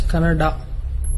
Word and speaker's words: Kannada: People from North India should understand that it is pronounced as Kannada.